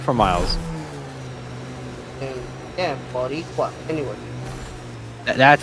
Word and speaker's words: Boricua: Yeah, Boricua.